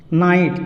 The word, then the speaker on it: knight: के है, ये के हो साइलेंट हो गया, साइलेंट। अब देखिए आगे नाइट, KNIGHT, नाइट, इसको पढ़ेंगे नाइट।